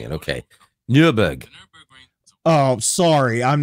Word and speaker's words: Nürburgring: Of Nürburgring.